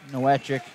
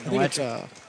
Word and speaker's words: Nowacek: Johnny Cortez, the state qualifier last year, going up against Captain Nowacek. Is that how you pronounce it? Novacek. Novacek. Novacek?